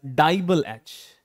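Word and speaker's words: DIBAL-H: is something which is uh which is uh pronounced as dble H you have to read it as dble h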